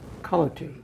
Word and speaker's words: Culloty: And I have with me my special guest is Father John Culloty. Is that pronounced?